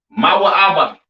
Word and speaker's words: Moab: have Moab all right Moab pronounced ma ABA right the children of Moab